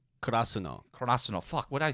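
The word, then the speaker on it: Karasuno: Because even the characters in the anime don't know how to pronounce it either. Kurosawa? Kurasuno.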